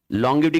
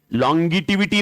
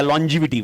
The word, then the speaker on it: longevity: Helps to enhance, strategic management helps to enhance, लॉन्गिविटी की spelling लॉन्गिटिविटी नहीं होता, बहुत जन वो ऐसा करते हैं लॉन्गिटिविटी, लॉन्गिटिविटी नहीं, लॉन्गिविटी या लॉन्जिविटी, वॉट एवर तुम प्रोनाउंस करो।